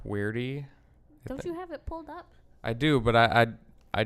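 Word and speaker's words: Queerty: LGBT based magazine or some type of called weirdy I do but I I just want to make sure I'm saying it right because it's qu e ER T why we got queer D okay queer T and he said that when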